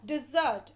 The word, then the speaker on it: dessert: dessert and dessert focus with double s it is pronounced as dessert and with single s